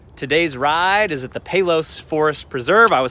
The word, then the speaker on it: Palos: been a thing today's ride is at the pelos forest preserve i was saying palos until i actually met the locals and they